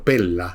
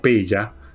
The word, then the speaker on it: Pella: El hombre nació en lo que era, por así decirlo, la capital del reino macedónico, Pella, se llamaba, o Pella, depende como ustedes la pronuncien, en el año 356 a.C.